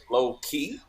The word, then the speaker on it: LoKey: end of it and that way it'll be pronounced low key so that's really how it should be pronounced it's low-key because we got a